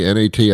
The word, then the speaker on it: gnat: Uh, gnat, nat, I have no idea. Uh, the G is silent, but not the gnats.